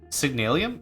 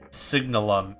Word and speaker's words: Signalum: signalium requiring Platinum oh signalon I've just been mispronouncing it for eight years signalium is how I've been pronouncing because ium sounds more aesthetically pleasing to me uh bronze blend bronze blend signalum Ingot yeah I don't